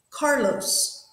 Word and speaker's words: Carlos: Carlos, do we say Carlos or Carlos? Yep, we say the first one, so the stress is on the car.